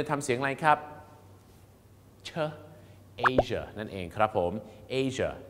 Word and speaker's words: Asia: ให้ คุณ จะ ทำ เสียง อะไร ครับ เชอ Asia นั่น เอง ครับ ผม Asia นะ ฮะ Asia